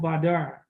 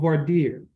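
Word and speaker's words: voir dire: with what is called badar or vardir depending on how you would like to pronounce it uh that basically means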